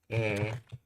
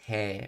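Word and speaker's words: へ: How does e... Notice I'm pronouncing it as e, not he, because when it's used as a particle, it's pronounced as e.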